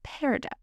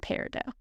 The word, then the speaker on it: peridot: This is space-age peridot. Now, before anyone starts questioning my pronunciation here, the T in peridot can be pronounced or not. Either way is correct.